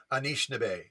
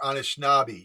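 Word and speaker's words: Anishinaabe: of our tribes itself it's anishinabe or anishnabi you can pronounce it several different ways and in our tribal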